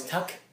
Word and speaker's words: Tuch: Alex Tuck. Tuck. Is Yeah. it Tuck? Yeah. It's spelled Tuch.